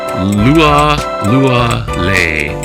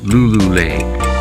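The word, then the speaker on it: Lualualei: It should be pronounced nanakuli. Also, it's lua lua le not lulule in Hawaiian.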